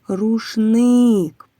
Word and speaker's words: рушник: На який склад падає наголос у слові рушник? На другий склад.